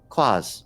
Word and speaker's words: quaz: Quaz, a noun, both singular and plural, referring to anything strange, incongruous, or peculiar. At its heart is the unknown, the mysterious. It rhymes with Oz.